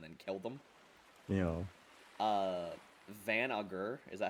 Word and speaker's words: Van Augur: Yeah, but I've heard it as Van Augur and Von. But there's no O, so Van I'm Augur I'm sounds right.